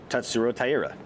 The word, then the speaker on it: Tatsuro Taira: Tatsuro Taira.